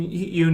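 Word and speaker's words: Yeun: done too much where people say it's pronounced Yan so sorry if my pronunciation is wrong of his last name I've heard him called Yun before so okay Yan I guess um he he hasn't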